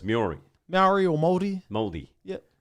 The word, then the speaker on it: Māori: Maori or Māori.